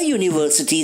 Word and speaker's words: university: A university student. A universal truth. A one-man show. While university, universal and one begin with vowel letters U and O, the sound produced is not A and O but U and V, which are consonant sounds.